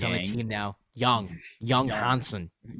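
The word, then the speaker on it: Yang Hansen: Young young Hansen. Young Hansen. Young Hansen. That's how they pronounce it.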